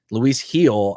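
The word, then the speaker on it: Luis Gil: So Luis Heel, I believe is how you say his name, is a very, very strong hold for me rest of season.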